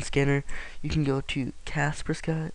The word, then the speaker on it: Kaspersky: you can go to caspers Sky or kasperski I've heard it pronounced and just type that